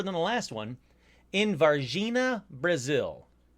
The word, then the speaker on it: Varginha: new, way newer than the last one, in Varginha, Brazil. It's Varginha. I looked it up, figured out how to pronounce it. It's Varginha.